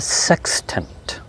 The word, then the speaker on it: sextant: know what this is it's called a sex tent it's not a bad word it's spelled s e x t a n t sextant it's one word